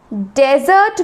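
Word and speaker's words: desert: डेजर्ट रेगिस्तान यहां पे डेजर्ट में जो की बैरन लैंड है ठीक है उसे पर हम फर्स्ट सिलेबस में फर्स्ट सिलेबस में ज्यादा फॉक्स डालते हैं जैसे की डेजर्ट डेजर्ट तो हम इस पर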